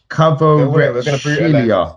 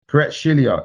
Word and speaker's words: Kvaratskhelia: Kvaratskhelia. Still, might as well leave it. Kvaratskhelia.